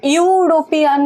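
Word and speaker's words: European: अब यूरोपियन मतलब प्रोनाउंसिएशन क्या हो रहा है? यू वाई आ रहा है। कंसोनेंट है तो हो जाएगा ए।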